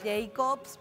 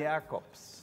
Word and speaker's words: Jacobs: Yo digo Jacobs, pero él me dice que se pronuncia con el tono alemán. ¿Cómo está, director? Jacobs.